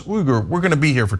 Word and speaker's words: Uygur: Uygur is actually not Uygur. I say Uygur to make it easier. It's Uygur. But if you're an American trying to pronounce Uygur, we're gonna be here for 20 minutes, okay?